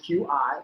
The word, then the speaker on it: Qi: The first one that I saw is just the I believe it's called Qi charging, spelled QI, but I believe it's pronounced Qi.